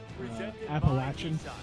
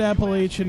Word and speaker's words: Appalachian: I was like, I've heard Appalachian, I've heard Appalachian. People from App State get mad if you say it the way the mountains are pronounced.